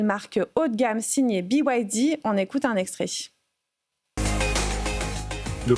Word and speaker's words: BYD: On repose rapidement le contexte he mais BYD donc qui se prononce à l'anglaise PYD.